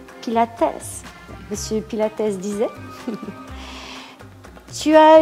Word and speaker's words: Pilates: Monsieur Pilate disait, si on veut dire la prononciation en allemand, Pilatesse.